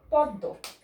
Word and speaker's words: পদ্ম: দয়ের নিচে ম ফলা থাকলে দকে দুইবার উচ্চারণ করা হয়, পদ্ম।